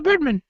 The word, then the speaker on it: Birdman: Birdman? Yeah, Birdman. Well, I think you're pronouncing it wrong. It's Birdman. There's not more than one of him. It's just Birdman.